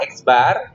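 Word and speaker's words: x̄: nanti untuk dirumuskanya eksbar jadi expert ini itu dibacanya adalah x bar yaitu X1 + X2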